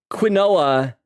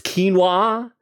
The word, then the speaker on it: quinoa: the stuff I I I was saying quinoa and you guys were saying it's quinoa if you only see